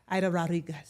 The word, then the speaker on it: Aida Rodriguez: Aida Rodriguez.